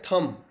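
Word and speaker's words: thumb: में आता है थंब थंब बोलते हैं लेकिन इसका सही उच्चारण है थंब इसमें भी एम के बाद बी आएगा दोस्तों अगर किसी वर्ड में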